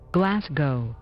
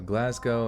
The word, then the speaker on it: Glasgow: in soothing sound waves absolutely Glasgow or glad go let's go Glasgow okay so Glasgow and what is done